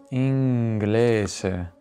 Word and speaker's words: inglese: A dire il vero, oggi la pronuncia neutra moderna, quindi quella che usano i doppiatori, gli attori di teatro, tende a preferire z sempre tra due vocali, quindi inglese, cosa, francese.